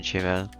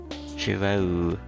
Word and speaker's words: Shiro: Shiro, So this is the correct pronunciation, Shiro. Shiro. Shiro.